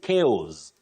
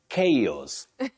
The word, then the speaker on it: chaos: right don't say calm calm no the L is silent you say C okay come then don't say chos chos common but wrong you say chaos chaos then you also say fracka fraka not